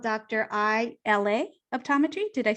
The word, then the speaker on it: ILA: ILA Optometry. Did I say it correctly? ILA Optometry, you got it.